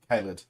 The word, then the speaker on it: Khalid: But the tank today we are talking about is the Al-Khalid. No, Khalid. Khalid.